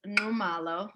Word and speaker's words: Nxumalo: we formally started, that the X in our one of our languages in Southern Africa, it's pronounced like a click in the back of your mouth, like the way that you would call horses or train horses.